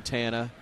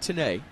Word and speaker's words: Tana: Everybody was calling him Tana. They couldn't get it right. But Tanae is the right way to pronounce it.